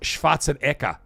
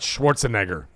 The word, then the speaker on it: Schwarzenegger: It's it's his actual name is pronounced Schwatzenka. So if anybody wanted to know how you actually say his name, his name is Arnold Schwatzenka, not Schwarzenegger.